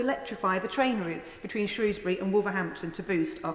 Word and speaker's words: Shrewsbury: Or should that be Shrewsbury? Apparently, your pronunciation reveals which side of the river you grew up on, but actually the people of Shrewsbury and Shrewsbury are very tolerant of both pronunciations, as it turns out.